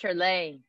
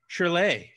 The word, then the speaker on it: Shyrley: Hi, you're Shyrley, I suppose. Hey. How you doing? It's pronounced Shyrley. Shyrley.